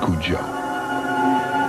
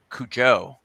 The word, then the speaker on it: Cujo: I always thought it was Cujo, right? Yeah. Blevins noticed it. Yeah. Oh, okay. Yeah, I knew the accent on the U, Cujo. Yeah. Right. Or it would be on the O.